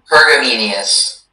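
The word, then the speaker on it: pergameneous: Your word is Pergamenius. Could I have all of the information, please? Sure. The word's only pronunciation is Pergamenius.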